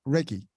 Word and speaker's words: Reiki: Now you mentioned Reiki, or yes, is that how it's said?